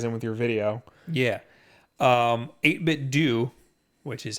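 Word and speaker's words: 8BitDo: kind of ties in with your video yeah 8-bit du which is how you pronounce it okay because everybody yeah they would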